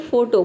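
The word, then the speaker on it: photo: physics next है फोटो फोटो में भी देखिए एफ एच एक साथ आया है पी एच ठीक है पी एच का हो जाएगा फ ओ का हो जाएगा ओ और टी को टी ओ ये हो जाएगा आपका ट ठीक है पूरा हो जाएगा फोटो फोटो का हिंदी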